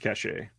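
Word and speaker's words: Caché: or C cash a yeah I think it's pronounced cache okay yeah that's a good one and he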